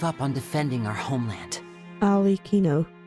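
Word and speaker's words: Arlecchino: on defending our homeland alino okay that's how you pronounce the name Al Ino so okayo alino okay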